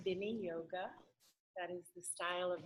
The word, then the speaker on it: Viniyoga: So it is pronounced Viniyoga.